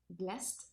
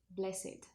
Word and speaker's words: blessed: For example, blessed, it would be pronounced with the final t if it's a verb, blessed, but if it's an adjective, it would be pronounced with id, blessed.